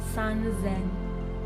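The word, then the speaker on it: 三千: 3000, sanzen, sanzen, sanzen. It's an exception here with the Z.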